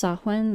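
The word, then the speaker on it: Samhain: am I think it's suen or I'm not sure. It looks like Sam Hayne but that is not how you pronounce that word.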